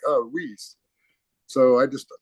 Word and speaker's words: Weis: know these supermarkets called, it's called Weiss, but it's spelled Weis S. All right. So, I call it Whis.